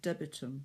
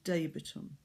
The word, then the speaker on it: debitum: And because you're thinking of debits, lots of people say debitum when it's actually debitum.